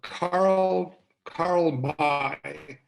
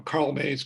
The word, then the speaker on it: Karl May: There was a German author by the name of, what was his, you know, Karl May. It's how it's pronounced in German, M-A-Y, or Karl May.